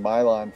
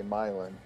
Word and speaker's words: Milan: for the proper pronunciation I've been saying Mylon for like many years just goes to show we're all learning something new on great train layouts live we're learning everything from train that design to Iowa pronunciations so all the natives around Milan say Milan nobody says Mylon okay Milan which makes